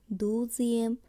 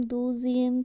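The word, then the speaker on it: douzième: একাদশ উচ্চারণ হবে অজিয়েম, দ্বাদশ দুজিয়েম, ত্রয়োদশ থ্রেজিয়েম, চতুর্দশ ক্যাতোজিয়েম, পঞ্চদশ কেজিয়েম, ষোড়শ সেজিয়েম, সপ্তদশ ডিসেটিয়েম, অষ্টদশ ডিজুয়েটিয়েম, ঊনবিংশ ডিসনোভিয়েম, বিংশ ভন্টিয়েম একবিংশ ভন্তে ইউনিয়ম।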